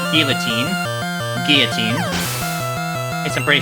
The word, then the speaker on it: Guillotine: the one-hit KO move Guillotine. And yes, that is how it's pronounced. Not guillotine.